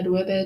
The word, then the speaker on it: Loewe: 사실 저도 이번에 로에베의 철자를 처음으로 자세히 보게 되었는데요. 왜 발음에 대한 영상을 만들었는지 알 것 같았어요. LOEWE죠. 저도 처음에 봤을 때 W가 왜 들어갔을까 궁금했어요. 스페인 브랜드이고 설립자 이름에서 따왔더라고요.